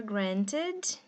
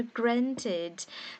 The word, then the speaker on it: granted: Na pronúncia britânica, você pode falar o T igual eu tô falando, granted, ou na pronúncia americana, você pode... O N, na pronúncia americana, o N é uma consoante mais forte do que o T, então você fala granted, granted. O N engole o T, né? O T some da pronúncia no inglês americano, ok?